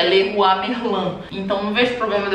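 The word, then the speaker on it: Leroy Merlin: assim a pronúncia entendeu Porque também na real a pronúncia de Leroi merlim é só no Brasil porque aqui eles falam do jeito francês que é lerua merlan então não vejo problema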